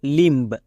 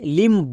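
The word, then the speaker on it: limb: আমরা অনেকে ভুল করে লিম্ব বলি বাট এর উচ্চারণ হবে লিম এখানে দেখো বি সাইলেন্ট কেন কারণ আমি সাইলেন্ট লেটার এর ক্লাসে বলে এসেছি এম এর পরে বি থাকলে বি সাইলেন্ট এখানে দেখো এম এর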